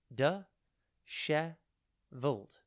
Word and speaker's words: dishevelled: one word at a time today's word is disheveled it's pronounced de cher volt and it is spelt d i s h